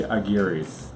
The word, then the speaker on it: Aguirre: We are the Aguirres. Or if you can roll your R's, it's Aguirre.